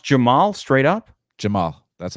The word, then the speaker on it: Jamahal: just Jamal it's pronounced Jamal straight up Jamal that's how you pronounce it oh jamahal all right not not jamahal no I know it's it's written jamahal but Jamal all right Jamal Hill